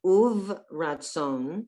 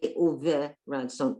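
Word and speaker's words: וברצון: And here's another silent one. Uv ratzon. Uv Ratzon. Ratzon. We don't say uve ratzon. Uv. It's just the end of the syllable.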